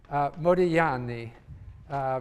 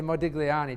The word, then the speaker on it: Modigliani: to pronounce his name Modigliani because in Italian you don't pronounce the G although I tend to say Modigliani just to be understood